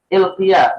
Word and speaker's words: Ilkiya: Ilqiyah bi kasril kaf wa fathil ya al-mukhaffafah. Qiyah ya. Ilqiyah. Huruf kafnya itu kasrah, kemudian ya-nya mukhaffafah.